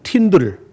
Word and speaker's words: Tyndale: 사람들에게는 많이 알려지지 않았습니다 이름이 윌리암 틴데일이라는 분인데 어떤 사람들은 이렇게 발음하기도 하고 어떤 사람은 팀들 tyndale로 쓰는데 이렇게 발음을 해요 보이죠 근데 이분은 참